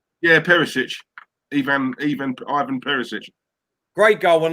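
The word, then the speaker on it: Perišić: Yeah, Perisic.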